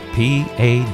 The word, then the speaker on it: Paducah: That's spelled P-A-D-U-C-A-H, Paducah, Kentucky 42002, USA.